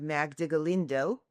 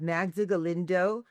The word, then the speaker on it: Magda Galindo: So excited to be with you because today we have Magda Galindo. Did I pronounce that correctly? You did. Thank you. So excited to be with you today because today we have Magda Galindo from the FAR Foundation, which is the foundation